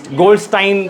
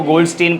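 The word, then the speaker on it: Goldstein: गोल्डस्टाइन pronounce करता है वो, गोल्डस्टीन प्रोनाउंस करता है, GOLD, गोल्डस्टाइन, STEIN।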